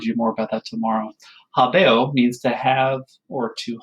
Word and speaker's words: habeo: So let's start with the first word here, which is habeo, habere, habewi, habetum. That is how you say it. You always do the 4 principal parts, right? So habeo, habere, habewi, habetum.